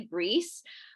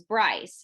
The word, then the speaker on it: Brice: in the south and it's actually french it's actually greece but when they came over from france like couple hundred however many years ago they adapted the english pronunciation which is bryce so bryce is the name now but with the y that's the scottish version of it with the i it's greece which is french and i always hated